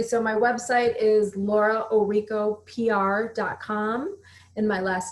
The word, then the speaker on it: Orrico: touch yeah absolutely so my website is Laura Oh Riko PR comm and my last name is spelled orr IC o---- so Laura Oh Rico PR comm and then for the extra stuff